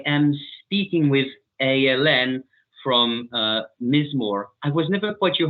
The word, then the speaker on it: Mizmor: from Mizmor. I was never quite sure how to pronounce it. Mizmor? Yeah, I think it's actually pronounced Mizmor, but I say Mizmor because I'm just a dumb American.